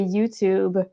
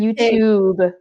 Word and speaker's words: YouTube: Toujours le OU sound. Ouh. Puis c'est intéressant parce que moi, je disais YouTube. Fait que mon Mhm. T était vraiment trop prononcé.